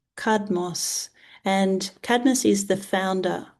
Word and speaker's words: Cadmus: Cadmos. Cadmos.